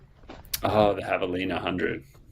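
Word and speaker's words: Javelina: Oh, the Havalina 100. There we go. My pronunciation really lacks. Yes, that one. The uh Spanish Spanish H for the J. Yeah, the Havalina 100.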